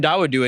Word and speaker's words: Dawodu: Hakeem Dawodu, we know how to pronounce his last name. Yes, Hakeem Dawodu taking on Julio Arce.